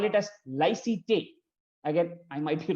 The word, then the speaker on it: laïcité: The French idea of secularism in that sense, in France, in French, they call it as laïcité. Again, I might be wrong in the pronunciation.